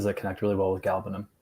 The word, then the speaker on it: galbanum: Galbanum, labdanum, labdanum. I don't know. To me, galbanum rolls so much better than galbanum. I feel like pushing that second syllable out kind of makes the words awkward.